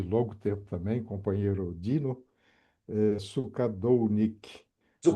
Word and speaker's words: Sukadolnick: Ok, bom, olá meus amigos, todos que vão nos assistir aí, Anderson, meu amigo aí de longo tempo também, companheiro Dino, Sukadounik, ou Sukadonic. Sukadounik.